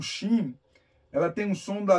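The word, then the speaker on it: שׁ: o som da pronúncia se o dages estiver do lado direito se escreve sh xim se é o Dag estiver do lado esquerdo se escreve sim com letra S lembra que nós temos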